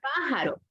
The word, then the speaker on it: pájaro: Vamos ahora a indicar con la palabra pájaro. Última, penúltima, y la fuerza de voz la tiene en antepenúltima, ¿verdad?